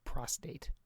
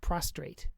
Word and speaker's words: prostate: I'm heading into an age where I may have to start paying attention to my prostate. Not prostrate as it is so often pronounced.